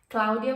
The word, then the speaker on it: Claudia: the claudia claudia claudia claudia would be the italian pronunciation but let's say claudia gloves by icy she's